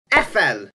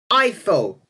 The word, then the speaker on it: Eiffel: But, this should be said as Eiffel, not Eiffel, as in La Tour Eiffel.